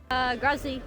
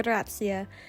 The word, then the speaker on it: Grazie: Grazie. Prego. That was me trying to say thank you in Italian, and I learned pretty quickly that's absolutely not how you pronounce it. It's more like grazia.